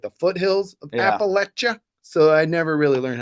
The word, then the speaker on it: Appalachia: like the foothills of Appalachia. So I never really learned how to say it right. Yeah, here it is now. Thank you, Matt. Yeah, Thank you. Parquet says it's pronounced Appalachia, not Appalachia. Appalachia.